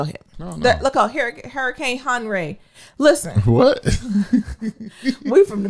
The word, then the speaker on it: Henri: And then you ain't feel comfortable to be like, no, since it ain't Henry, it's Henri.